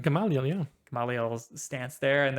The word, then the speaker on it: Gamaliel: Gamaliel, yeah.